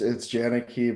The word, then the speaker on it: Janicki: It's JANICKI, but it's That's what I thought.